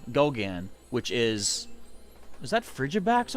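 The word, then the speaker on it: Goguen: But people assume, because my last name, Gauguin, is spelled G-O-G-U-E-N, so you might think it's Gauguin, but because the French pronunciation is Gauguin.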